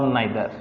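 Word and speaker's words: neither: इसमें नॉर और नाइदर, इसे नीदर भी पढ़ते हैं, नाइदर भी पढ़ते हैं। अमेरिकन और ब्रिटिश इंग्लिश का डिफरेंस है, अदरवाइज प्रोनाउंसिएशन जो है नाइदर और नीदर दोनों ठीक है।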